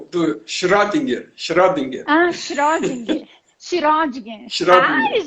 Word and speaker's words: Schrödinger: mandaram a pronúncia do Schrödinger. Schrödinger.